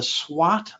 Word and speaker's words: SWOT: The SWOT analysis, that's how you pronounce it.